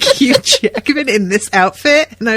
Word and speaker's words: Hugh Jackman: it's infuriating but yes they call hugh jackman hugh jackman huge act man so i'm calling him a huge actor and i just got so distracted something picturing like hugh jackman in this outfit and